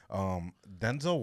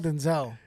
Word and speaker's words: Denzel: It's not Denzel. It's Denzel. Yeah.